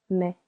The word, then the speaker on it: mets: Tu mets silent s.